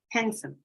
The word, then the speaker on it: handsome: the father and son however in casual speech we say handsome X the t is not pronounced the D is not